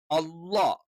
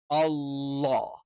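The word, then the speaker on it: الله: ഒരു ലെറ്ററും ആയി പോകരുത് ഈ ലെറ്റർ നമ്മൾ ഉച്ചരിക്കുന്നത് നാവിൻറെ സൈഡ് ഭാഗം ആ സൈഡിലുള്ള അണപ്പല്ലിൽ ടച്ച് ചെയ്തുകൊണ്ടാണ് ഒരിക്കലും അള്ളാ എന്ന് അങ്ങനെ ഉച്ചരിക്കാൻ പാടില്ല ഇനി ളാ എന്ന് പറയുന്നത്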